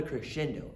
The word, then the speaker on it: crescendo: right boys and girls that is called a crescendo that's where you start soft you work your